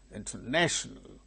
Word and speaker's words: international: not the same thing say second one example International International national one two three third syllable gains primary stress so it is marked